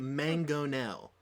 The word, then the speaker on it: mangonel: You look at the letters and you say mango. What does that say? Wait. Mango. Mango. My And then favorite. what does NEL sound like? Nell.